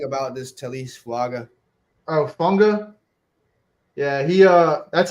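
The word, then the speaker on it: Fuaga: Oh, Funga. Yeah, he that's how you pronounce it.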